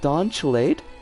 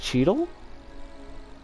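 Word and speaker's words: Cheadle: rhythm is played by is it don chilad no that's not right because the l is in the wrong spot cheedle is his name pronounced cheedle which makes me sad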